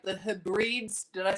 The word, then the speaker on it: Hebrides: Well, no, it wasn't a live stream, it was content I created on, I don't say it right, the Hebrides.